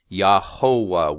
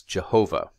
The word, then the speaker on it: Jehovah: If one literally reads through the Bible, they see the consonants for God's personal name mixed together with the vowels for the word that's replacing God's name, Adonai, which comes out as this funny Yahovah word, or when it's transliterated into Latin, it becomes Jehovah.